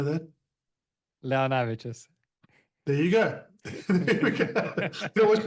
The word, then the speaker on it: Leonavicius: I'm not even going to pronounce his last name. I'll let him say that. Launavicius.